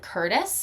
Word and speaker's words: Curtice: And the two authors that I hear a lot are Caitlin Curtis, and that's spelled Curtice.